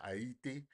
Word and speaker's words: Haiti: the Middle East China places like Haiti or or or properly pronounced ATI you know um you're